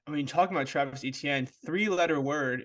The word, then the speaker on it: Etienne: And then I mean, talking about Travis Etienne, 3-letter word. If you just say Etienne, ETN. That's how I learned how to say his name.